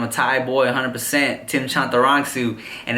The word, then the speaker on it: Chantarangsu: you didn't know my government name is tim chantarangsu timothydelaghetto studying how to memorize it and spell it all right chop the wrong soup Shanta